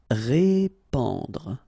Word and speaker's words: répandre: Répandre. Okay, so here you get this A-N combination, so the sound is en. Répandre, répandre.